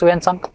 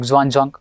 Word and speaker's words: Xuanzang: First we will discuss Yuan Sang. That is also called as Chen Hui, and again Xuanzang. So different pronunciation.